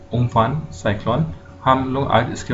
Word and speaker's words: Amphan: तो सबसे पहले जो साइक्लोन हमारा आया है, ठीक है, ये इसका जो प्रोनाउंसिएशन है बोलने का वो है उम्फन, उम्फन।